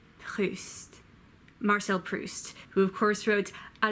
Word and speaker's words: Marcel Proust: Hans Anatole France Marcel priest MA say host Marcel Proust who of course wrote a la Hache -